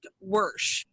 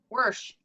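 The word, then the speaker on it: Wershe: yes his real name his real name so it's rick wirsh junior worse worse worse so um you know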